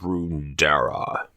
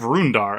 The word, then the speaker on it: Roondar: freedom very enjoyable experience the siege of roundera i think it's siege of roondar actually i can pronounce stuff